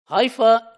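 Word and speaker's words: hypha: If you add e at the end becomes plural and is pronounced as hyi. So hifa is a single threadlike filaments like here and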